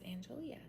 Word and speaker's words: Angelia: It's not Angela, it's Angelia.